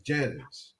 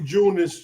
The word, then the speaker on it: Janus: not J no no I thought it was JN too it's Janice it's for January it symbolized the month of but anyway you could pronounce it like that if you want it could be junis too so yeah I'm telling